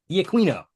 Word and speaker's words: D'Aquino: pronunciation of this, but he's played by John D'Aquino. I know that's wrong. Brian, correct me. D'Aquino.